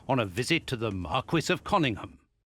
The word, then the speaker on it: Marquis: In 1898 when Sherlock Holmes invited me to accompany him on a visit to the Marquis of Cunningham. It's pronounced Marquee. Marquis. It's Marquis.